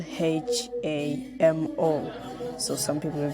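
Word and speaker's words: Lhamo: people can pronounce like lamo Nemo but it's not lame or no one pronounces like that but it is pronounced as hamo L plus h combination okay so the next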